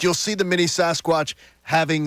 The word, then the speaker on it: Sasquatch: He said, I love me some barbecue sauce squatch. You say it like sauce. Barbecue sauce squatch. Sauce squatch. It's Sasquatch.